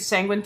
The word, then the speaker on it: Sanguin: oh okay so my my name is sanguin sanguin rhymes with penguin so way back in